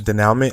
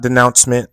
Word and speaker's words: denouement: I'm gonna pronounce it as denouement. It's not denouncement. There's no N. There's a DENOUE, then a hyphen, continuing on the next line, MENT. So denouement.